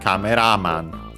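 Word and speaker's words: カメラマン: Good thing I checked because it's actually camera man on the uh ra at the end.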